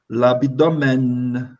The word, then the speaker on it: l'abdomen: L'abdomen. L'abdomen. L'abdomen. Bem pronunciado esse N, ó. Ele está aqui dentro dos sons.